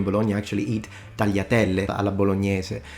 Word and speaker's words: bolognese: Yeah, I think in English they say bolognese, but yeah. But the typical Italian pronunciation would normally be spaghetti bolognese, spaghetti bolognese.